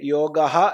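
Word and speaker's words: യോഗഃ: എന്നീ ധാതുക്കളിൽ നിന്ന് സിദ്ധമാകുന്ന ശബ്ദമാണ് യോഗ അത് പുല്ലിംഗത്തിൽ യോഗഹ എന്നും നപുംസകലിംഗത്തിൽ യോഗം എന്നും ആവാം ഇതേ സംസ്കൃതത്തിൽ ഉള്ളൂ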